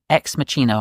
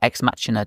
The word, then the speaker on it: Ex Machina: Ex Machina, or Ex Machina, depending on how you pronounce it.